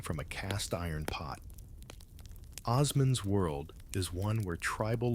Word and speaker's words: Osman: That's Osman with a soft S, which you will inevitably mispronounce as Osman, like a medieval rock star.